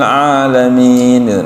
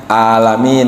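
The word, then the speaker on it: العالمين: Kalau k salah lagi dengan ha alhamdulillahiabbil alamin nanti jangan alamin ya salah lagi kan gitu harusnya dengan a alamin gitu.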